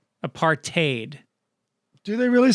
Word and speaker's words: apartheid: i have a correction for you apartheid is pronounced apartheid not apartheid i said apartheid the other week yeah these are kind of but i've heard it both ways and by the way destro it's apartheid if you really want to say it right